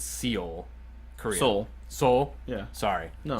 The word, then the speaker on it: Seoul: And forgive me if I pronounce this wrong. It's Seoul, Korea.